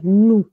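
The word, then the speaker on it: nous: अब कोई इस पे गेस करेगा इसका क्या प्रोनाउंसिएशन होगा? ब्लू। बहुत बढ़िया, नू।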